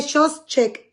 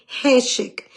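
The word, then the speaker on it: חֹשֶׁךְ: Se escribe shoshek y se dice heshek.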